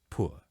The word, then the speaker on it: poor: And notice I'm pronouncing both O's in the word poor.